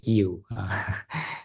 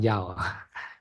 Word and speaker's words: Yiu: the name of mean actually is you and not ya you is a can pronunciation and my D name